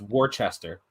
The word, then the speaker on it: Worcester: Just It's Worcester. You guys are saying it wrong.